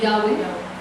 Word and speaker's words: Yahweh: Perdona, yo me gusta llamarle a la versión original el nombre de Jehová, que nosotros decimos realmente es YHWH, que lo más cercano es la pronunciación Yahweh, y Dios es Elohim.